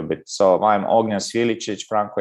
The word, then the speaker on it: Sviličić: This CC we are pronouncing always Ch, so this is confusing a bit. So I'm Ognjen Sviličić, Franco Jakovčević.